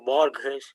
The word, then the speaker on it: Borges: I'm not pronouncing his name right away. It's called Borges. Borgsh.